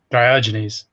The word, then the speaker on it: Diogenes: um but is it diode my frozen genes diogenes diogenes see i knew i was mispronouncing it yeah mind you i have had